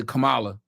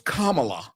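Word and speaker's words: Kamala: kept telling me I would say Cala oh it's kamla it's KLA bitch stop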